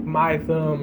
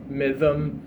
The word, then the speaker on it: MYTHM: like the name's unique sometimes people don't know how to say it they'll be like mym or something but uh yeah it's just myth myth with a M sometimes people like myth UK people say myth